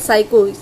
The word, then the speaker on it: psycho: साइको analytic theory किसने दी है, Sigmund, साइको एस, जैसे कि भले ही पी साइलेंट है बट साइको सा आ रहा है ना, वैसे सिगमंड याद रखिए कि साइको को सिगमंड ने दिया है, ठीक है।